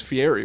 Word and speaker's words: Fieri: fieri for no reason am i saying it right it is fiery right yeti how they [ __